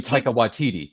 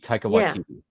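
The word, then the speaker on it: Waititi: it it was I can't and I can't pronounce his name ta te oh you mean ta watiti ta watiti yeah I mean I I get that he's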